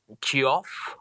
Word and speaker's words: Giov: with my name is giov if i'm pronouncing that right uh yeah you can ask your question buddy yep yep it's pronounced jeff but uh yeah yes